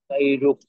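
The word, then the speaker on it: غيرك: ওয়া লা ইলাহা গায়রুক। গায়রুক হবে কেন? গইনের জবরের উচ্চারণ তো গ হয়।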